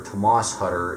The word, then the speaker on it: Thomas Hutter: Britain uh which of course is exactly what Thomas hutter or Tomas hutter is how they pronounce it uh does at the beginning of